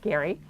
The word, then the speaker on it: Gerry: know that term but g-e-r-y was the last name pronounced gary uh he was a